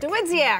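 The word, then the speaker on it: Dawidziak: DeWidziak.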